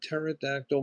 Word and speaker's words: pterodactyl: Uh why can't you hear a pterodactyl going to the bathroom? Because the P is silent.